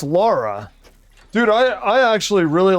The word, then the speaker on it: Lara: Remember the pronunciation, Nazis? It's not Lara, it's Lara.